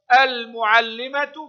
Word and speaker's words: المعلمة: المعلمة، مرت علينا هذه الكلمة، لام قمرية تكتب وتنطق، اللام هنا مشددة والتاء المربوطة تنطق تاء في الحركة وهاء عند الوقف.